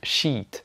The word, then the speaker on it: sheet: Donc, il faut tout le temps dire sheet. Bon, bien entendu, il faut pas exagérer. Vous dites juste sheet.